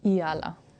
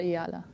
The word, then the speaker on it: Eala: But firstly, how do you what's the exact correct way of pronouncing your last name? Eala. Eala? Yeah, so I say Alexandra Eala, yeah.